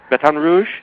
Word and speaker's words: Baton Rouge: all that I know you are you're in Baton Rouge did I pronounce that right yeah Baton Rouge batan Rouge that's how they say it batan Rouge batan